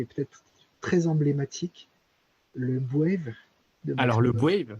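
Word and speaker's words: B'Wave: It's called Wave. You can pronounce it B-Wave, but you'll be wrong. Let's get back to the name. Why is the trick pronounced wave? The answer is because it is a contraction of the word brainwave. And so it is properly pronounced wave.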